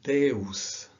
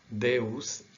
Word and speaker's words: Deus: This is Deus, eu, meu, real. Okay, remember the L is strange sometimes, but this is, you have to pronounce the letters separately. Real, Deus, eu, meu.